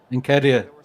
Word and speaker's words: Nketiah: And with, the other guy, I can't pronounce his name. Edward Ntakia. Nketiah, yeah.